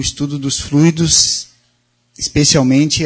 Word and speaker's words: fluido: Fluido ou fluído? Nondonde é a sílaba tônica. São duas palavras aparentemente semelhantes e na grafia, mas tem significados diferentes. Uma é substantivo, outra é verbo. Fluido, com acento tônico no fluido.